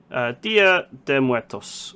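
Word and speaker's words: Día de Muertos: Now I need to make sure I pronounce this correctly. Dia de Muertos.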